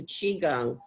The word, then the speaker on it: qigong: So we're going to do about 45 minutes together of an exercise called qigong. It's pronounced chi as in C-H-E-E, Gong, G-U-N-G.